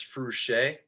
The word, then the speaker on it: Fruchey: I always thought it was FRUCHEY, but it's FRUCHEY. FRUCHEY, yeah, no problem. Nobody pronounces it right the first time, and it's okay.